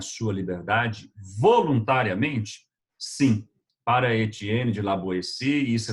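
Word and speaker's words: Étienne de La Boétie: pronúncia no francês é Etienne de la Boétie, foi um jovem, uma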